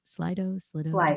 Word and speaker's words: Slido: Slido.